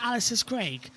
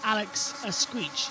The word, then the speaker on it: Alex Escrig: It's it's In English you pronounce it Alex Escrig. But then we got the correct pronunciation guide from the Spanish media and it's Alex Escrig.